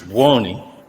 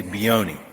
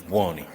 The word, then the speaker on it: Buoni: So properly is Buoni, but we pronounce it improperly. We say Buoni. Buoni, okay. Because I went to. But if Italians would know, the right pronunciation is Buoni.